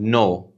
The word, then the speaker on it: know: purposes so for example you write the word no k n o w we don't say we don't say or we don't pronunciate letter K but we still write